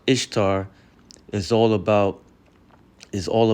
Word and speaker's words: Ishtar: But the but the root of Easter, which is how you pronounce Ishtar, is all about is all about um celebrating fertility and sex.